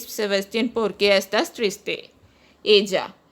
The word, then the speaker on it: ella: Ella. Double L is pronounced as J in Spanish, so it is pronounced as ella.